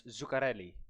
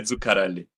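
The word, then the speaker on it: Zuccarelli: Okay, Zukarelli. It's just that on that double C, you can just stay there a little more, but I don't want to get too picky.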